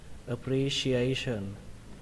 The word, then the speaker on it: appreciation: Ở đây nó có hai trọng âm. Trọng âm thứ nhất là ở chữ re, và trọng âm thứ hai ở chữ a. Tuy nhiên cái trọng âm thứ hai này là cái trọng âm chính các bạn ạ.